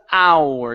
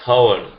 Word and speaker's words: hour: Take off the H. Because hour. One more time. Because. How? We're missing it. Okay. So, can you feel yourself pronouncing an H. You're saying because how. So, you don't want to say how. Go straight to the vowel.